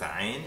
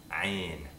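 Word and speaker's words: عين: The same thing happens with ayn, except it happens down here in the throat. So you've got to lift your throat up and back a bit. Ah, ah, ah, ayn.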